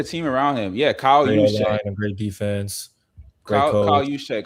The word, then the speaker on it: Juszczyk: Kyle Juszczyk.